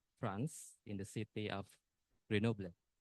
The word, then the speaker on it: Grenoble: This is a university in France, in the city of Grenoble. How do you pronounce Grenoble?